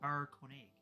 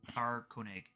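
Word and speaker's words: Caer-Konig: He was last located in the town of Carconig. If you need me to spell it, just let me know. Yes, please. So it is In the town of what? Carconig.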